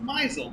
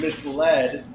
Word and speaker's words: misled: for a long time thought that the word misled was pronounced mizel which does it makes perfect sense that it's spelled like mizel so uh quite a surprise to find out it was kind of misled but it does sound